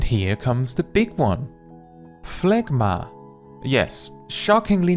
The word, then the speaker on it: Phlegma: Phlegma. Yes, shockingly not a phlegma, right?